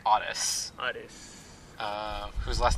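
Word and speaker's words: Aras: name is RS but it's p out it's Otis it's spelled a r as I keep hearing odit yeah it's it's Otis Otis uh whose last name is Bush cow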